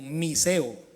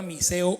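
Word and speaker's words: μισέω: La palabra aborrecer aquí es una palabra griega que traduce o se escribe como miseo, M-I-S-E-O, miseo, y significa, párenle olas, amar menos, vacío, sin amor.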